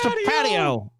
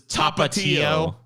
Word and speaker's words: Tapatio: It's the patio. The patio. Go sit on the patio. The patio. I like it, dude. Well, teach me how it's pronounced. It's Tapatio.